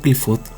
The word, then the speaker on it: Qliphoth: que presenta a as cfat es como se pronuncia en singular o cfot es como se pronuncia en plural también se les denomina